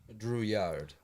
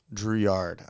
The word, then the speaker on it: Drouillard: Drouillard. Drouillard.